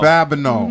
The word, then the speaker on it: Babineaux: and he plays detective how do you say the last name Babineaux Babineaux yeah but now the New Orleans he got Creole roots okay okay okay so